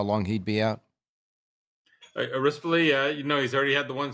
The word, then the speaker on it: Rispoli: Yeah, I should say Rispoli. That's his correct pronunciation.